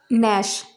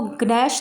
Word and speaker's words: gnash: जैसे नैश, GNASH, यहाँ पर जी एन से पहले आया तो यहाँ पर जी का प्रोनाउंसिएशन नहीं किया जाएगा, इसको ग्नैश ना बोलकर नैश बोलेंगे।